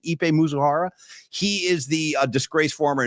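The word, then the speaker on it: Ippei Mizuhara: Ipe Mizuhara, I believe is the correct pronunciation. Ipe Mizuhara.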